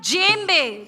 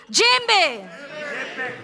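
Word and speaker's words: djembe: This drum is called S जेम्बे। कैन I hear it after me? जेम्बे superb जेम्बे J correct GeM बे लेट मी आस्क यू ऑल।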